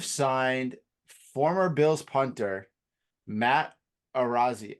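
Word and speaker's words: Araiza: The Chiefs have signed former Bills punter Matt Arazia, I think is how you say his last name, Arizia.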